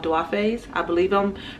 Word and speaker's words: Duafes: And the first pair of earrings I want to share with you are called Duafes. I believe I'm pronouncing it right.